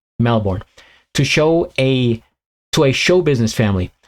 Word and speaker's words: Melbourne: Somebody, if you're ever making a rap and you're trying to think of something to rhyme with born, you have Melbourne.